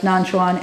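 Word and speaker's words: Nanquan: for us nonsense cat nonsense is the um the Japanese pronunciation of nonchon and I don't speak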